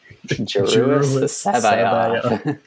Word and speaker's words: Joruus C'baoth: Joruus C'Baoth.